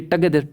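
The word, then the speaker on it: together: इसी प्रकार से ये टगेदर टगेदर टगेदर टगेदर, आर भी साइलेंट है, आर से पहले वोवल आ रहा है तो आर भी साइलेंट, और लास्ट में सिंबल ये लगाएंगे, लेकिन ओ जो है वो भी एक ही साउंड देगा, टगेदर टगेदर, है ना।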